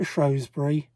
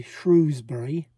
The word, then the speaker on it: Shrewsbury: half day trip to Shrosbury or as the locals say, Shrewsbury, I am told.